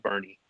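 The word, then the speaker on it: Boerne: City Limits we're a small town called Burnie and everybody Texans always pronounced everything oddly to say the least it's different so it's spelled BOE R and E and the car scene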